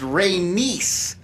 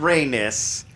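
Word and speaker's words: Rhaenys: to you that it it's pronounced reynis not reinous they face listen I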